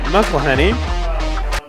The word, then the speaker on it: McElhenney: At first base, we got Bill McElhenney. I still think I pronounced that wrong. No, McElhenney's right.